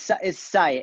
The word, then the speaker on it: Syatt: Is it Syatt? Yeah, it's Syatt. It's like the Hyatt Hotel, but with an S.